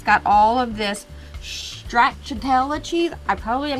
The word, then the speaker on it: stracciatella: We open it up, and it's got all of this stracciatella cheese. I probably am not saying there's that right. no chance you said that right. Stracciatella?